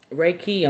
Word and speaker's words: Reiki: everybody's doing everything online people getting Reiki um Reiki I'm sorry that's the proper way to say Reiki uh healing and meditation